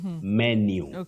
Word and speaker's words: menu: right bet okay menu menu the U at the end takes that Glide you new menu not menu menu